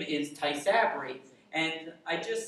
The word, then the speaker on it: Tysabri: you pronounce this medicine it sounds like a japanese carving knife and the medicine's name is tysabri and i just said